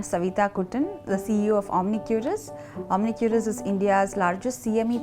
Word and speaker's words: Omnicuris: Am I pronouncing it right? Yes, it's Omnicuris.